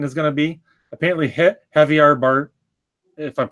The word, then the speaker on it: Javier Bardem: And on the topic of what the race of King Triton is going to be, apparently Javier Bardem, if I'm pronouncing it right, Javier Bardem, Right.